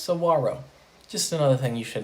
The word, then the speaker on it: saguaro: It is not pronounced saguaro. It is pronounced saguaro.